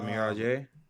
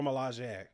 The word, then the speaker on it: Milaje: The Mirage. The what? The Miraji. Yeah, is that how you say it? Nora Miraji? No, we're both getting it wrong, and we're both gonna get canceled for this. Cool. But no, the Dora Milaje.